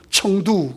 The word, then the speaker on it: 청두: 그래서 캠퍼스 미션하고 또 대각선으로 내려와서 지금 그 성도, 예. 한문들은 성도고 원래 발음은 청두 그러죠.